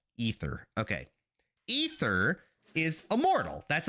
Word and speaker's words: Aether: to pronounce that correctly I grew up pronouncing it ather because I read it and I didn't hear it it's ether okay ether is Immortal